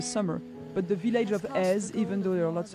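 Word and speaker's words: Èze: But the village of Ez, even though there are lots of tourists, so it's spelled E-Z-E, and you have the village, which is on top of a cliff.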